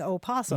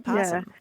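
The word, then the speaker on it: opossum: hard yeah yeah but either one either one works across the United States both both are used and possum probably is used by most people okay thank you so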